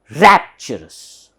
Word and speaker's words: rapturous: this is so here there's an upper stress therefore the beginning the first syllable should be stressed rapturous rapturous thank you spring